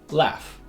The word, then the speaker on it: laugh: F side we have laugh and draft these are both said with a low front vowel a laugh draft for words where GH